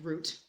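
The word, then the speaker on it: Rut: uh you know that their names are root r u t like but like it's pronounced root and suffer does it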